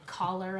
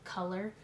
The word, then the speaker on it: color: They say it like collar on your shirt, but it's color.